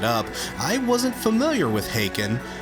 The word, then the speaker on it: Haken: I wasn't familiar with Haken. And before you give me shit, yes, that's how it's pronounced, but I saw progressive